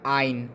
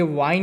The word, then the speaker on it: yne: और एल्काइन के लिए आपको लिखना पड़ेगा आइन, YNE। ठीक है, ये वाइन नहीं है, ये आइन है।